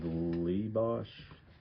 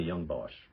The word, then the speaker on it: Young Bosch: the way through um I I'll say his name wrong is it Johnny leebos no idea the guy that's the voice of um just about everything in anime Johnny Young Bosch right Johnny Young BOS okay yeah he was